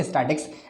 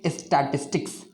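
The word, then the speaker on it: statistics: ठीक है, बट इट इज़ नॉट स्टैटिक्स, इट इज़ स्टैटिस्टिक्स.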